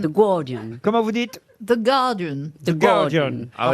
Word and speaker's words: Guardian: The Guardian. The Guardian. Ah Normalement, effectivement, on dit pas le U.